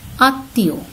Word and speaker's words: আত্মীয়: এরপরে রয়েছে আত্মীয়, কখনো আমরা বলি না আত্মীয়, উচ্চারণ কি আত্মীয়। চন্দ্রবিন্দু দেওয়া হয়েছে, মনে আছে সেই শুরুতে আমরা লিখেছিলাম সানুনাসিক উচ্চারণ হবে, যদি মফলা উচ্চারণটা না হয় সেক্ষেত্রে আমরা সানুনাসিক উচ্চারণ করব, সে কারণে কিন্তু আত্মীয় এই শব্দটিতে আমরা চন্দ্রবিন্দু ব্যবহার করেছি।